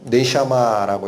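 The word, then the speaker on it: נשמה: 네샤마라고 읽힙니다.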